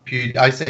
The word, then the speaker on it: PewDiePie: How do you say his name? PewDiePie, whatever his name. I say PewDiePie. It's PewDiePie, whatever it is. But maybe Well, he says it like this. He's like, "Hey, it's PewDiePie." So, that's how he says it.